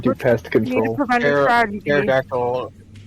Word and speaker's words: pterodactyl: Pterodactyl guano is very loud, but the P is silent.